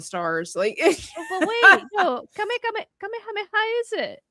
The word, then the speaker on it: kamehameha: I don't even Maybe in English it's kamihameha, but in Spanish it's definitely kamehameha with no accent. No. No. No. no accent.